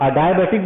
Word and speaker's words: adiabatic: Adiabatic, दो pronunciation है. आप इसको अडायाबैटिक बोलो या आप इसको अडियाबैटिक बोलो.